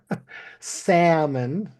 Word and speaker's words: salmon: Salmon. The L is not pronounced. Salmon.